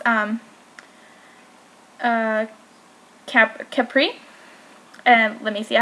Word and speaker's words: Capri: you see i did pronounce array and it's pronounced um capri so it's this whole collection is based on